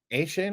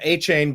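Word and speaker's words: Achane: How do you pronounce his name? A-Chain? A-Chain? A-Chain. A-Chain, I think.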